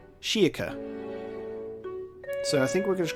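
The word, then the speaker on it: Schierke: And the way that the majority have written it is more of like a Shiaka, like a K at the end. Shiaka.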